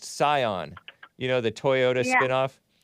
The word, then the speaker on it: Scion: He spelled it like the car, which I used to pronounce it Sion, but I heard that it's actually pronounced Scion.